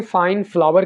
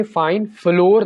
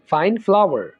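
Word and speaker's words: flour: मेदे को इंग्लिश में फाइन फ्लावर कहेंगे फाइन फ्लोर नहीं कहेंगे फाइन फ्लावर अचार को इंग्लिश में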